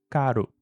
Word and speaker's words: caro: Então, a palavra que antes tinham dois Rs e se pronunciava carro, agora com um R só. E como ela fica entre a letra A e O, ela vira caro.